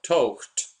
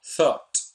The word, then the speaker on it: thought: Pronunciación. Incorrecto. Thought. Correcto. Thought.